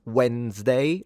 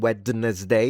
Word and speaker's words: Wednesday: So basically this is pronounced Wednesday like when rather than wedness day.